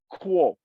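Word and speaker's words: Guo: okay but the G in pinging translation is pronounced like okay so for a English-speaking person imagine k-u-o quo Moro m-o-r-u-o is his given name and comoro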